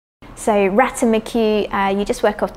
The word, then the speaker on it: ratamacue: so ratamacue are you just work off the syllables of the word so ratamacue but again